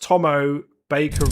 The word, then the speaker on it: Tommo Baker: Um, my YouTube name is pronounced Tommo Baker.